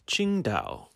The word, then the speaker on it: Qingdao: famous chinese beer qingtao which is spelt a little differently on the beer it's spelled with a t-s-i-n-g-t-a-o the actual city name is spelt q-i-n-g-d-a-o but it's the same thing and it's the city